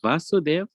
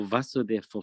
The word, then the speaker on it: Vasudev: more question about the is it vasudev or vasudeva for krishna so krishna is vasudev so um we know in the sanskrit alphabet um the a can either be a short a or a long a and the long a's carry twice as long as the short eight so you have ah so um with vasudev which is krishna's father it's a short eight positive and with